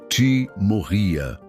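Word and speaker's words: τιμωρία: Para compreendermos a natureza deste julgamento divino, podemos olhar para a palavra grega timoria, se pronuncia timorria.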